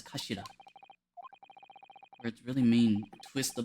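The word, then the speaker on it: 頭: It's written as head in Japanese, but it's pronounced as kashira.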